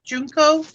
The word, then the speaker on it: Junko: Who Junko? Is that how you say her name? Junko?